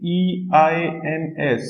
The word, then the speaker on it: eins: So this is one thing I want to tell you that, okay, whenever E and I are together, the pronunciation is same as that of letter I.